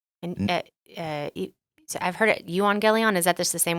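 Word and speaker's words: εὐαγγέλιον: And so I've heard it, euangelion. Is that just the same word pronounced differently? Yeah. So how do you say it? I've been taught to say it euangelion.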